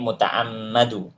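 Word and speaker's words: مُتَعَمَّد: fihi ya tib jadi di sini mutaammadu bacanya pakai pakai fathah ya mutaammadu fihi tib maka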